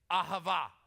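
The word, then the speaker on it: אהבה: Listen, if you don't spit when you say it, you're not saying it right, okay? That's how you know when you're saying it right. Ready? Let's try it again. Ahava.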